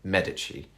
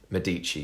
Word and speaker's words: Medici: or if you're in if you don't know the italian pronunciation medici medici you probably call it um but yeah the